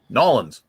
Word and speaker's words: New Orleans: Nolans. You got to say it right, Joe.